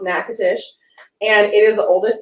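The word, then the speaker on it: Natchitoches: it's uh spelled a little crazy but it's pronounced nakatish and it is the oldest settlement in louisiana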